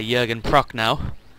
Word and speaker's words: Jürgen Prochnow: who was played by Jürgen Prochnow, if that's how you say his name correctly, in the film.